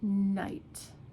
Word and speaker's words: night: This throws off a lot of new English language learners because it's not pronounced. Okay, so examples of this would be though. Though, even though I like it, I didn't go though. And night. Night.